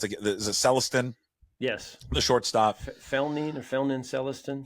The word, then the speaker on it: Celestin: Young, or who's I don't know how to pronounce is it Celestin?